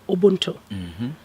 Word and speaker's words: Ubuntu: It stems from Africa, from the ancient philosophy of Ubuntu.